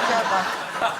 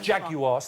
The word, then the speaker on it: Jaguar: no not a Jaguar jagar if you're going to promote them at least learn to say it properly how am I say Jaguars three syllables over here yeah you say you're